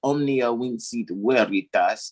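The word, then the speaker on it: omnia vincit: by truth right so that's what omnia wins is because in latin the v is pronounced with the wha sound all right so that's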